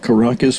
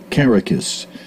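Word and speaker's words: Karakis: you guys uh k-a-r-a-k-i-s kara carricus i think is the way he told me to pronounce that not caracas but carricus all right they'll correct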